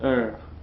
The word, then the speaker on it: heure: Another thing, don't pronounce the S in this word heure.